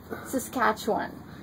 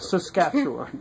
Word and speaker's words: Saskatchewan: Almost 4 years of living here, I can finally say it is Saskatchewan. Yes. Am I saying it right? Saskatchewan, yes. Saskatchewan.